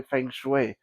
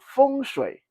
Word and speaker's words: feng shui: because when I say feng shui, I feel like I'm going to bite my tongue and make me wince when I say uh, Chinese pronunciations with that weird English intonation. So feng shui.